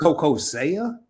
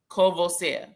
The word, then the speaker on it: Courvoisier: I bet you get more people that pronounce it wrong. Courvoisier? Courvoisier.